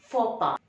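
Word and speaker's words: faux pas: this and how is it pronounced it is pronounced as fopa foba is an embarrassing act remark or mistake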